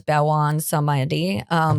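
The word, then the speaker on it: Baron Samedi: We pronounce him as Bawan Samedi, but he is more of a underworld guardian that they were showing.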